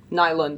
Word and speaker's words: Nylund: Well, how do you pronounce? Is it Newland? Nylund? Nylund. Nylund. Okay.